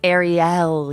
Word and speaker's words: Arielle: guest here yes um arielle am i saying that is it ariel kebbel or ariel kibble it's arielle arielle that is such a